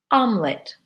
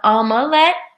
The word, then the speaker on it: omelet: Alma let thee but we pronounce it omelet not all my let omelet we take three syllables and we squish it down to two a lot of people